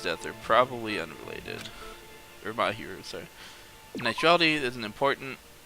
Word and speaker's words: Mahiru: You had me thinking it was Miharu. It's not, it's Mahiru.